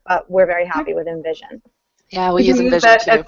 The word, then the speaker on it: InVision: It's spelled INVISION, by the way, because sometimes it sounds like Envision with an E, but it's spelled with an I.